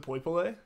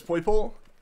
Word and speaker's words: Poipole: I don't actually think it's pronounced like that in Japanese, though. Like, that's kind of why for the longest time I said Poipole. But, but apparently I'm wrong and it's Poipole.